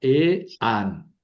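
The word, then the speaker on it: ἐάν: Aquí se juntan las dos vocales fuertes, lailon y la alfa. ¿Verdad? Son fuertes, no forman diptongo, entonces las pronuncio separadas. Si el acento está sobre la a, pongo el acento sobre la alfa, ¿verdad? E an. Aquí hay dos sílabas.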